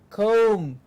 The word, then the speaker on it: comb: Comb. Now comb, it's a comb. B के आगे नहीं आएगा.